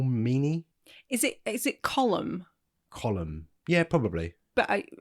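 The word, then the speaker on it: Colm: of in aarin and they kept calling him column so I was like oh no yeah I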